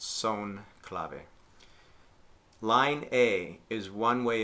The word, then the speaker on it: son clave: is the son clave that comes from Spanish so it's pronounced son clave line a is one